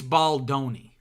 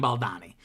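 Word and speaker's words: Baldoni: commented basically saying it's baloni like pepperoni it rhymes with pepperoni you keep saying baldani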